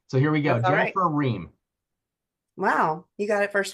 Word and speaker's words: Riem: Jennifer Ree.